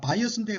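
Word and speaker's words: bias: 숨을 내시는게 되겠죠 그다음에 발음은 바이어스입니다. 바이어스인데 소리 나는 대로 읽으면 비하죠 비아하지마 편견을 가지고 그래서 바이어스는 편견 편양이고요.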